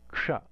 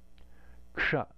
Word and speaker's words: kṣa: If you put ka and a cerebral sibilant together, sha together, you get ksha, ksha.